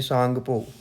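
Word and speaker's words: Tsangpo: River जिसको तिब्बत में सांगपो टी सांगपो T silent है के नाम से जाना जाता है जिसको इंडिया में एंट्री करने के बाद ब्रह्मपुत्र कहते हैं।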